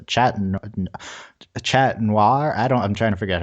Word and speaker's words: noir: Okay, but then they run back into each other, and Ladybug says, "Chat noir." I'm trying to figure out how they pronounce noir in French. Like noir, it's like one syllable.